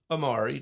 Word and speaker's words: AMARE: TC mentioned AMARE. Did I pronounce that right?